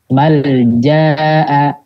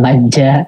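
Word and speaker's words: ملجأ: Dibacanya izhar. Nggak ada yang dibacanya idgham ya. Jadi bacanya nggak sasabila, nggak ada. Atau majja gitu ya. Atau imma, enggak.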